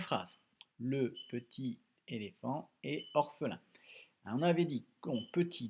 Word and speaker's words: orphelin: Orphelin, trois syllabes, orphelin, on a le F d'éléphant et le 1 de lapin.